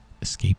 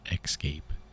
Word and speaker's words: escape: Escape pod, not excape, but escape. That's how it's pronounced. It's pronounced escape.